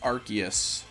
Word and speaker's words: Arceus: Iron Man yes exactly like Arc spells Ark so it's like Arceus because like because you